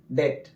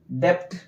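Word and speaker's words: debt: आते हैं अधिकतर जगह टी के पहले अगर बी आया है तो वो बी क्या होता है साइलेंट एग्जांपल समझिए ठीक है पहले देखिए बी आया है तो क्या पढ़ेंगे डेट डेप्थ नहीं पढ़ेंगे ठीक है पहले भी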